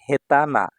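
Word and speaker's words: 下手な: তখন এটা হয়ে যাবে হেতানা হেতানা এটা না এডজেক্টিভ অদক্ষ দেখুন এখানে আমি স্টার চিহ্ন দিয়ে দিয়েছি মানে এটার কাঞ্জি শব্দের উচ্চারণের সাথে মিলবে না এটা ফিক্সড যোজনা হেতানা এখানে তে বাজু তে বাজু কোথাও কিন্তু বসেনি ঠিক আছে ভাইয়া এই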